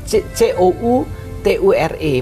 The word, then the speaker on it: couture: Nah, menjahit dengan pekerjaan jarum tangan itu bahasa Prancisnya adalah couture. C-O-U-T-U-R-E, bacanya couture.